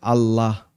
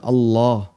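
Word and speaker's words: الله: Allohuakbar memang bacaan atau huruf lam dalam kalimat Allah dalam kata Allah itu dibaca tafkhim tebal nah kadang sebagian orang di masyarakat kita kan ada beberapa kesalahan ya ada yang baca Allah Allah dan itu berarti masih tarqiq masih tipis harusnya agak tebal Allah dan sebagian orang terus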